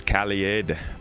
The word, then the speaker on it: Kaled: It's Kaled pronounced like the first part of Kaleidoscope.